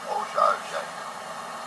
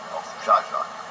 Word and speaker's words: Owczarzak: Owczarzak. And how do you pronounce that in Polish? Owczarzak.